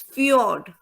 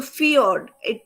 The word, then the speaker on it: fjord: The answer for this is fjord. And I gave you the pronunciation also, if you remember this word. So fjord, the J is silent here.